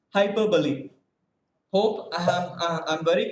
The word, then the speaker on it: hyperbole: it now yes sir how should i pronounce this h y i p s b o l e hyperbole yeah hyperbole even i two was addicted to the pronunciation hyperbole so many of us we have made mistakes but still let us learn from our mistakes and hereafter let us pronounce it as hyperbole hope i am i'm